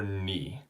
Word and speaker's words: 你: okay now the last one is you or knee okay the way you write that nice and